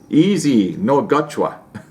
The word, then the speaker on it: Izongwacha: Izongwacha." Scott, it's pronounced easy. No, God. Okay, I get it. It's pronounced easy, no gotcha.